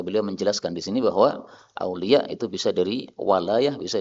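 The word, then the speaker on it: أولياء: Ketika ada Hamzah di akhir dan kita berhenti, maka Hamzahnya bisa dihapus. Sehingga bacanya apa? Aulia. Enak kan? Kalau qiraah Asim harus panjang. Aulia harus 6. Karena dia itu apa? Mad wajib. Kalau kita pakai qiraah Hamzah enak. Aulia. 2 harakat selesai.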